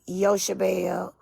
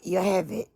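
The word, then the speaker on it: Jochebed: Now, I'm glad you're reading that, because for the longest I thought her name is pronounced, it depends on how you pronounce it. They'll say Yoshabel or Yoheved.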